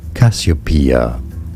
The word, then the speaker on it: Cassiopeia: Cassiopeia.